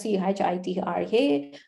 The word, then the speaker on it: Chitra: pronouncing my name because my name is like spelled as c h i t r a but when when is pronounced chitra so many people I